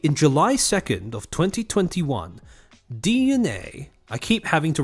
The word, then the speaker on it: DNA: July 2nd of 2021 DNA I keep having to remind myself not to say Dena because of the way it's spelled DNA fully acquired Arium ink